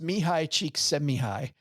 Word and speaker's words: Mihaly Csikszentmihalyi: It's pronounced Mihaly Csikszentmihalyi.